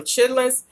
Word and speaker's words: chitterlings: If you actually look at the name on the packaging, it's spelled chitterlings, Lings. But, you know, they say if you're from the South, you say chitlins. But the proper name, according to how it's spelled, is chitterlings.